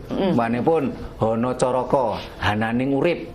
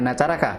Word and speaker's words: Hanacaraka: jadi hanacaraka ada utusan bacanya hanacaraka bukan ada dua utusan ya Ada ada utusan Hana itu ada Caraka itu utusan berubah menjadi Honocoroko itu setelah menjadi sastra Jawanya Tahun berapa itu mulai